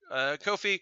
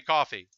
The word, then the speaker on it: Ko-fi: and this is my Kofi Kofi I don't know how to pronounce it but yeah you can buy me a coffee so it's probably coffee instead of KO phi but those voices before